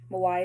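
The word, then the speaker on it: Mywia: Mawaya is spelled M-Y-W-I-A.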